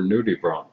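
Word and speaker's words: nudibranch: and that the squirmy white things underwater were nudie Bron spelled like Branch but pronounced Bron I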